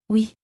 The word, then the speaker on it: ou: Oui. Avec plaisir. Oui. Avec plaisir. Oui, avec plaisir. In French, or is. Ou. Is pronounced as oo, like the woo in food or moon. It's a long, smooth sound.